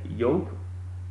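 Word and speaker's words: Jean Patou Joy: it's a classic, definitely Jupe. Okay, you put these two together, Jubilation and Yope, it's spelled Jupe by the way, but it's pronounced Yope.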